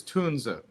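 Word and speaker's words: Tunze: How do you pronounce the company name? So it's uh correct German is tuna.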